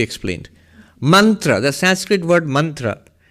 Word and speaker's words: mantra: Mantra, the Sanskrit word mantra. In colloquial Bengali, they will pronounce it as montor.